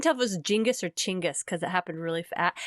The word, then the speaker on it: Genghis: on genghis han uh or not jingus chingus khan oh chingas chingas khan like a ch yeah yeah at least